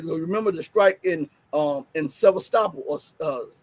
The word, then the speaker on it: Sevastopol: Remember the strike in Sevastopol, or I forget how to pronounce Sevastopol or Sevastopol. That's what it is, Sevastopol.